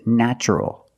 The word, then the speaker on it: natural: Also in this pattern, the T is pronounced with the ch sound. So the word is natural.